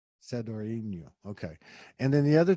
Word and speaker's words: Sadoriniou: Sadoriniou. Sadoriniou.